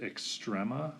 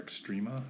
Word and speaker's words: extrema: Next, we want to talk about the word extrema or extrema. I've heard it pronounced both ways.